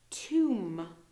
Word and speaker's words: tomb: com no B sound tomb no B sound D again NOA sound